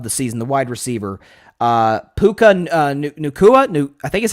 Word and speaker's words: Puka Nacua: Puka Nacua, I think is how you say it. Puka Nacua, I think is how you say his name.